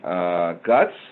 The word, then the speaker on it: GHUCCTS: go so I'm representing guts which is spelled gh UCC TS and pronouncing the acronym the seas are silent however you'll notice that